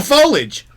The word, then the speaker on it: foliage: oh there's a foliage there is an extra syllable oh